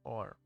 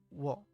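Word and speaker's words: を: o, This is o or wo. You pronounce this as o. Yes, it's the same as o, but the W is completely silent.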